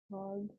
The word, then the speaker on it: hard: हार्ड हार्ड हार्ड, are silent.